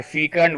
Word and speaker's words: fecund: So from Makar, the fifth house becomes fertile, shall I say, or fecund. What is the pronunciation?